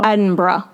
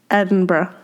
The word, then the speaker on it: Edinburgh: But in Scotland I believe they don't make it two syllables. It's Edinburgh. Edinburgh.